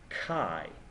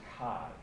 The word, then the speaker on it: chi: here and it's pronounced Kai usually people write Chi but it's pronounced Kai and Kai squared is